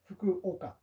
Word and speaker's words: Fukuoka: it is a place Fukuoka is the way to pronounce it slower but Kolka is